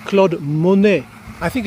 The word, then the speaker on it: Monet: M-O-N-E-T. Monet. Yes. Claude Montet. Say it like me. Monet. Monet. Oh no, I think it's Cloud Montet. Monet! you need to look it up. It's Claude Monet!